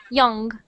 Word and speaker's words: young: British is a little bit more like an O, but ours is more like a U, like So the right way to say is young.